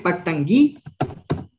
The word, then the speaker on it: pactangui: El segundo K se pronuncia como G, pactangui.